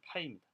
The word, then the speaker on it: π: 그리스 문자 마찬가지로 프로덕에 해당하는 그 그리스 문자는 파이입니다. 푸 발음 나는 거예요. F 발음이 아니고 푸 발음 나는 파이예요.